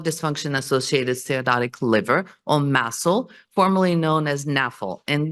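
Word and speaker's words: MASLD: stoic liver disease and I want to point out that the D is silent which makes it a little tricky so under that umbrella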